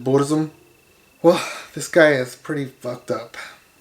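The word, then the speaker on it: Burzum: creator of a band called bursum or as he pronounces it buddhism well this guy is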